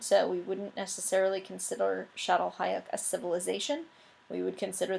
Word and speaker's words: Çatalhöyük: This is the village of, or the town, if you want to think about it that way, of Çatalhöyük. That's how it's pronounced.